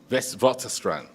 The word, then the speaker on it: Witwatersrand: Witwatersrand. I am saving you trying to pronounce this, Minister, but it gives me great